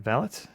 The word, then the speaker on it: valet: British people who talk about a personal servant pronounce the T on valet valot.